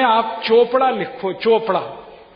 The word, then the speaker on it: चोपड़ा: यहां पे सी एच है तो चा का उच्चारण हो रहा है, ठीक है।